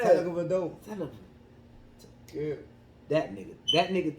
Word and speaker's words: Tagovailoa: How do you pronounce Tua last name? People, is it? I ain't never been able to get down. Tagovailoa. Yeah, that motherfucker. That shit sound like Antetokounmpo. You said it right. Yeah. Tagovailoa.